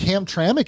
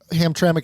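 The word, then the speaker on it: Hamtramck: Like, think about But think about how Ham Tramic is spelled. H A M. There's no T R A M C. There's no A there.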